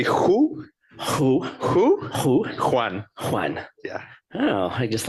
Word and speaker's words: Juan: It's not Juan, it's Juan. It's like a little, like you have to get a little in your throat. It's like if you say who? Who? Juan.